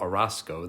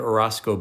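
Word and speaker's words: Orozco: Aldalfo Arasco, that's spelled O R O Zco, told participants at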